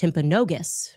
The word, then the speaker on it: Timpanogos: I'm told actually it's pronounced Timpanogos, okay?